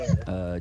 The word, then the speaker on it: Ayer: The third Ayers.